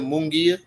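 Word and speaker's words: Munguía: Mungia.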